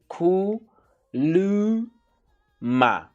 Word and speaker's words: kuluma: must kuluma so yeah kuluma means speak how you pronounce it it's cool ma okay so these um